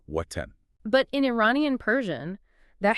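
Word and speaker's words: وطن: In Dari, the letter wa is strictly and exclusively pronounced as a bilabial W where both lips come together. So the word for homeland or nation is watan. Very crisp, very deliberate W, watan.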